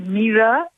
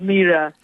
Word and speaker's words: Mira: And my name is Mira Nair. Oh, Nair. Oh, I'm so sorry. I apologize for that. And it's Mira.